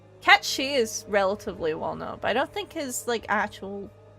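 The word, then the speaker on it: Cait Sith: And people don't even know it's pronounced as Cat Shi.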